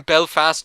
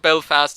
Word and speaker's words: Belfast: about belfast is that i always like put the accent on the fast instead of the bell and some people put it on the bell marianne's dad puts the accent on the fast and my history teacher mr costello used to put the accent on the fast as well so we say belfast